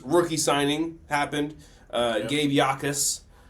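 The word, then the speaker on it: Jacas: Uh, Gabe Yakis signed. His name is His name is uh spelled Jacus, but pronounced Yakis.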